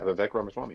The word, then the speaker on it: Vivek Ramaswamy: Oh, you have been, yeah, Vivek Ramaswamy, yeah.